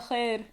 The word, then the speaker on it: خير: Yeah, but you're saying خير. Like just خير. Make it one syllable.